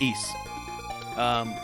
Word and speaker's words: Ys: if you have clear yeah it's pronounced East good morning at all